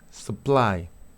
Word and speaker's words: supply: Fíjate la U, ¿ok? Tengo supply, supply, ¿sí? Supply, cuando tenga la U, en una sílaba que no tenga estrés, va a ser schwa.